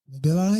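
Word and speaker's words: Mbilli: You know, you've got uh you got Christian uh Mibili.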